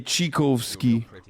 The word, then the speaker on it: Tchaikovsky: it but eleven months tchaikovsky yeah i know he's a composer shut the up you're probably closer than the american pronunciation yeah i just russians say chikovsky anyway so the critical